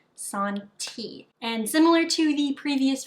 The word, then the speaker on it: Santee: that's how it's pronounced some reason I keep wanting to call it ciate which is not correct so if I do I apologize but I'm pretty sure it's pronounced Sun tea and similar to the